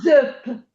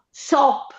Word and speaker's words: sop: dico zöp. Se volessi scrivere la dieresi dovrei dire zöp, ma invece dico sop.